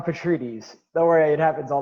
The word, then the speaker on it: Petrides: my dear friend petratitis did i get that right no no so please introduce yourself the right way with the right pronunciation of your last name petries don't worry it happens